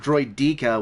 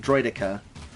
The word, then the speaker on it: Droideka: how to pronounce droidica he says it like droid dica which is obviously wrong and i say it like droidica droi deck ahidron